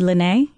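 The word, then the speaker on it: Lyné: of the lipstick line will be lenee and you spell it ly any within a gue over the e and it will most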